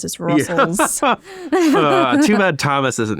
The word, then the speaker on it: rustls: I've always said Rust TLS, but now that I think about it, there is only one T. Yeah. It's like Russell my Jimmies, but it's just Russell's.